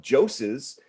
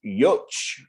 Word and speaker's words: Jocz: is actually not jos it is yoch if you pronounce it in polish um but you know